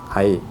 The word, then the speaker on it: 場合: กัน พวก เนี่ย ครับ เวลา ผสม คำ นะ ครับ ก็ จะ อ่าน ว่า ไอ้ ไอ้ ไอ้ เพราะ ฉะนั้น ก็ เป็น ที่ มา ของ คำ ตอบ นะ ครับ ว่า ที่ ถูก ต้อง ก็ คือ ว่า เป็น ไอ น่ะ ไอ้ ไป ได้ ถูก ต้อง นะ ครับ